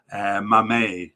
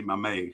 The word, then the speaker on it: Mmaee: And in the last podcast, I had no idea how to say his last name, because it's spelled Mmaee. You try to say it. Go ahead, try to say it. Yes, you can you? Well, I couldn't either until the African Cup, where I saw that they pronounced it Mame, Sami Mame.